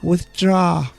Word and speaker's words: withdraw: draw good let's go the first reason it's difficult is because we have the th and the d next to each other there's so many letters here you should pronounce both of those sounds yeah so we have to go like this with draw withdrawal do you understand it guys with draw first move your tongue on your teeth yeah and then for